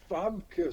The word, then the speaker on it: Famke: I was like, oh, it's Famke. She's Dutch.